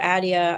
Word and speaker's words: Attia: Peter Attia.